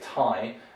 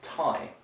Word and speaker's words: Thai: their thighs a lot that's a strange mistake in english we say thai and the name of the people or the native language is thai so that's the easy